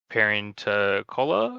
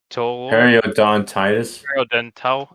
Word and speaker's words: periodontitis: So this is where you get the gingivitis, and I don't know how to pronounce the other one. Is it parenticola or something? Periodontal, Periodontitis.